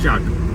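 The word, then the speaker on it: kyat: उसे क्या प्रोनाउंस करेंगे लेकिन बोलते उसे चाट है, चाट। बर्मा करेंसी चाट, चाट, ओके चाट, इसे बोलते हैं चाट। तो एक $1 में आप गूगल पे देखोगे तो आपको कन्वर्जन दिखाएगा 3200 चाट, पढ़ोगे तो क्या बना।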